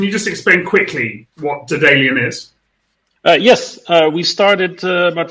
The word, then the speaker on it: Daedalean: We're now delighted to have Luuk van Dijk from Daedalean or Daedalean. Pronounce it how you like. Luuk, I say Daedalean, but yes, pleased to be here.